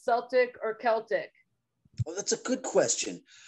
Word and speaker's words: Celtic: Actually, Isaac Darso, you may remember him, some of you, he pronounced it Celtic Frost early on when I first joined the band, and I always thought it sounded nicer. So I generally say Celtic now.